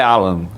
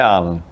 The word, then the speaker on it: Alan: O nome dele é Alan, não é Alan. Alan, perfeito. Não tem acento, mas a pronúncia que eu aprendi com quem trabalha no Palmeiras é Alan.